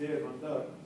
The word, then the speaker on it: Dermandar: And in the case of Dermandar, which means all around in Arabic, it's Dermandar, I would have to say that initially I